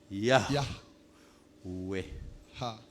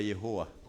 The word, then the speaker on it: Yahweh: H Y H W H. Yahweh. Vous pouvez prononcer en Chiluba Yehowa.